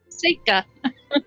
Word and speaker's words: Seika: Seika. Seika. Seika, like the watch, but and a.